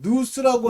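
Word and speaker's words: νοῦς: 이 깨달음이라고 하는 것이 헬라어로는 누스입니다. 누스 또는 노스라고도 발음하는데 영으로 기도하고 스피릿, 깨달음으로 기도해야 된다. 영어로는 understanding으로 기도해야 된다. 이 understanding은 마음의 깨달음, 누스라고 하는 것을 통해서 이건 마음의 열매를 맺게 하고요.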